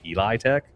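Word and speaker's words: Elitech: Uh it's actually not Tech. Everybody's pronouncing it wrong. It's Eli Tech.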